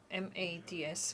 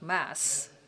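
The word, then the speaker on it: Mads: and we engage in very interesting dialogue and I heard that his name M A Ds well D is silent so we should not say MAD but Mass.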